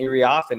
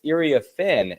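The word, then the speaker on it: Iriafen: saying Kiki iren uh her name we've been saying her name wrong we've been saying IR offen it's Ira fin is the way that they have changed that pronunciation to now that she is with the USC Trojans and IA Fen was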